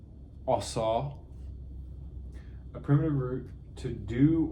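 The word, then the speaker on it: עָשָׂה: Primitive word, it means, or it's pronounced asa, a primitive root to do or make in the broadest sense and widest applications.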